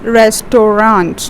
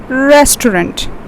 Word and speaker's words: restaurant: You don't say it as restaurant. No, it's restaurant. We have got again three syllables over here.